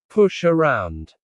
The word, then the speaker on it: push around: Native speakers stress the word around. Push around.